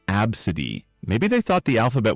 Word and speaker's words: ABCDE: naming their kid ABCDE, pronounced absid.